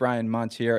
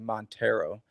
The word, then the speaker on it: Monteiro: You said I think it's Ryan Montier. It's actually Monttero. Like remember the Mitsubishi Montero?